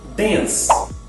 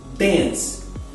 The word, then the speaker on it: dance: Via de regra, a vogal E no final das palavras não é pronunciada, mas muitos brasileiros pronunciam